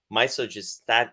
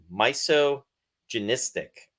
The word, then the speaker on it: misogynistic: regards to this film was misogystat. I can't pronounce it. Misogynistic.